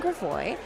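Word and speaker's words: Gravois: Uh, I always pronounce that wrong. I'm not I'm not native to St. Louis. Everybody makes fun of me of how I pronounce Gravoy or Gravo. Gravoy. Gravoy. I think it's Gravoy. Gravo.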